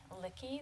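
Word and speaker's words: Luecke: please my name is lickey that's spelled l-u-e-c-k-e and I live at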